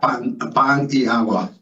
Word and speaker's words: Paniagua: So it's Paniagua. Is that how you pronounce it? Yeah. Paniagua.